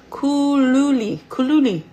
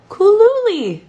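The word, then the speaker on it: Cooluli: So, Kulilu fridge. I'm saying it wrong. I know I am, and I want to do them right because they sent me an amazing fridge. And they're really not that expensive. Kooluli. Kooluli. That's how you say it.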